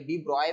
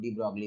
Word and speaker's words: de Broglie: बोला डी ब्रॉगली ने, ये डी ब्रॉय बोलते हैं बट इंडिया में हम लोग डी ब्रॉगली बोलते हैं। एक्चुअली इनका प्रोनाउंसिएशन है डी ब्रॉय, बट इंडिया में हम लोग ब्रॉगली ब्रॉगली बोल के चलते हैं, ठीक है, तो